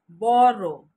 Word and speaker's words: borough: The first word for today is BOROUGH, is not borrow, it's borrow, borrow, borrow.